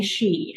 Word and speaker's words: Xu: So it's actually Shi. And people say, what does your dad do? Because it's a Mr. Shi, right? I said, yes, Mr. Shi has a lot of explanation to do.